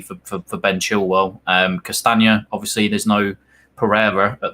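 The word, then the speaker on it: Castagne: smite uh schmeichel uh cast i can never pronounce his name yeah castanya thank you that's the one i'm gonna struggle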